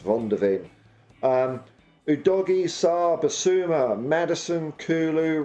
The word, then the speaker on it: Van de Ven: It's Vicario, Porro, Romero, Van de Ven, or Von de Ven. I think he's probably pronounced Von de Ven.